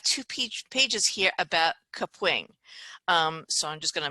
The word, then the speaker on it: Kapwing: going to talk today about kapwing yes it's pronounced kapwing i thought it was cap wing for so long it's kapwing so we have